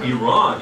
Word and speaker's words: Iran: called The Flock of Seagulls in the 1980s IR Ran So Far Away but we don't it's actually the correct pronunciation should be IR Iran yes this was made very clear to me